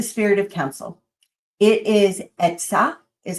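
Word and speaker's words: עצה: It is etzah, is how you say it in Hebrew.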